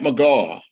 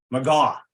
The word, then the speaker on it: McGaugh: For my second pilot episode today, I have a special guest with me, McGaugh. Did I pronounce that correctly? That is McGaugh. McGaugh.